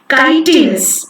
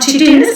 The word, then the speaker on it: chitinous: How to pronounce this word? Chitinous, right? It's not chitinous, it is chitinous.